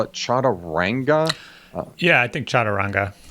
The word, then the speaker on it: Chaturanga: top line saga abilities, and they call it Chaturanga. Yeah, I think Chaturanga. Chaturanga, thank you.